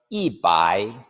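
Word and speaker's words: 一百: 이잖아요 우리는 100 하지만 중국인들은 앞에 반드시 이를 묻혀 요 그래서 이 빠이 2 바 이라고 합니다 우리말 발음으로 하면 1백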